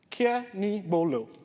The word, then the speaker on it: Kenigbolo: is Kenny and I'm going to teach you how to pronounce this because every time I go somewhere people find it difficult to pronounce but it's very easy that's it kia me bolo can everyone try that